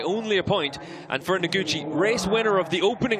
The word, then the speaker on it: Noguchi: And our championship leader, Haruki this is going to be the problem today, is the pronunciation. No problems at all, Ben. It's Noguchi.